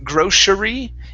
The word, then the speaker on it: grocery: uh grocery stores so here as well we're going to skip over that e so instead of saying grocery it's grocery grocery stores grocery stores very